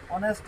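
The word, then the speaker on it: honest: अगर हम से बात करेंगे इसको क्या बोलेगा ऑनेस्ट मैन ये ऑनेस्ट मैंने ऑनेस्ट मैन है इसका जब उच्चारण करेंगे तो इस तरह से लिखेंगे ओंस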